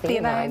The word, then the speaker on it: L-theanine: Theanine.